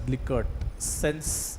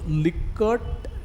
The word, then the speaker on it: Likert: Rensis Likart, or I don't know how it's pronounced, Likert पण म्हणू शकता, but I pronounce it as Likert.